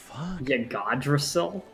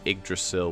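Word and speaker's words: Yggdrasil: draw a seal alright this one person got it right it's not really the proper pronunciation its egg Drasil with the emphasis on the Y and the NA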